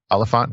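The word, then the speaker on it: Olyphant: Timothy Oliphant, is that how you say his name?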